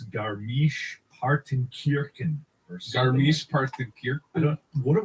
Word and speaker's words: Garmisch-Partenkirchen: There's a better pronunciation. Garmisch-Partenkirchen.